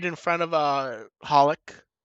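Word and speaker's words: xxxHOLiC: right in front of Holic. Do you pronounce the X in that title that show or not? I don't do know. not. I've been told no. Okay. I've been told no also.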